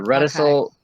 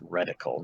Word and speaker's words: reticle: The reticule I got with the clear targets. Yeah, there you go. I believe it's pronounced reticle, not reticule, but whatever.